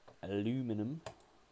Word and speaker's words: aluminum: a nice red, anodized red aluminium, or it's not in, there you go, or as you Americans say, aluminum.